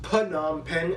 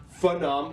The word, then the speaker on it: Phnom Penh: divided into 25 provinces and the capital is phnom penh that's right people it's pronounced pannam pen not fa-nom or nam pen phnom pen formerly named chakto mook is actually